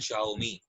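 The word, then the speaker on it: Xiaomi: ठीक है, इसको प्रोनाउंस करते हैं शाओमी, जियोमी ना पढ़ लेना।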